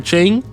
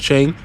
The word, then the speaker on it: Qing: I believe that's how you pronounce her name. Don't please don't like I hope I I hope that's how you pronounce her name cuz that's embarrassing. Um I'm I'm pretty sure it's Chen.